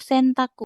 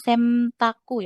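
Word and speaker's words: 洗濯: Nah, ini dibacanya tetap sentaku, bukan semtaku ya, tapi sentaku. Biasa aja, N tetap N. Bukan sengtaku, ya, tapi sentaku.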